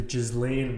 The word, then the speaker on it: Ghislaine: Parlaying that into the anti-establishment, have you seen the Ghislaine Maxwell glory that has been going all over the internet?